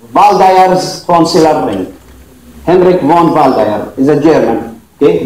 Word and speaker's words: Waldeyer: Henrik von Waldeyer is a German. Okay, that's why the W is pronounced as V. But in American, if you like, they still call him Waldeyer.